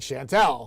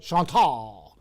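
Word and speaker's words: Chantal: I'm telling you right now, I actually watched like 16 different meteorologists call it Shantel. So, I'm going to continue to say it that way until somebody tells me that I'm doing it wrong, but I digress to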